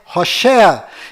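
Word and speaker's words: הושע: Mas a pronúncia correta de Oséias é Hoshea.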